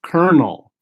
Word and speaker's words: colonel: it sounds it says : L but it's pronounced Colonel I know English is weird right so Colonel